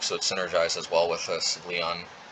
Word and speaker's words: Svyelun: Then again, Tide Shaper is a Merfolk, so it synergizes well with Svyelun. Svyelun, yeah, that's how you pronounce it.